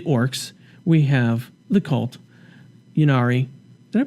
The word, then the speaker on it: Ynnari: Ynnari. Did I pronounce that right? Yeah. Ynnari.